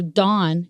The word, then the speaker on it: Dan: is pronounced in Hebrew Dawn you know like like you know the early morning dawn you know it's pronounced more like Dawn but it means judge judge and then you